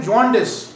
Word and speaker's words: jaundice: मैंने बहुत से लोगों को बोलते सुना है, पढ़ते सुना, उसको बोलते हैं जॉन्डिस। क्या पढ़ते हैं? जॉन्डिस। जॉन्डिस नहीं बोलना है इसका सही प्रोनाउंसिएशन जॉन्डिस। जॉन्डिस बोलने सुनने में बड़ा थोड़ा सा अजीब सा लगेगा, लेकिन इसका सही प्रोनाउंसिएशन जॉन्डिस है।